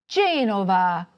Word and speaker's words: Genova: However, some words are stressed on the third-to-last syllable, such as MAntova, GEnova, Udine.